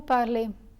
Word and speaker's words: parlez: As for the EZ ending, this letter combination is always pronounced as A.